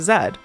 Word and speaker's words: Zed: recommended earlier by Sarah Zed. Yes, I'm going with the pronunciation zed. That's how she pronounces it.